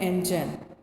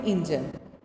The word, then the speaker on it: engine: Number 1 है एंजन। एंजन, इसकी pronunciation बच्चों चेक करें, एंजन, ENGINE, एंजन, और उर्दू में होता है इंजन।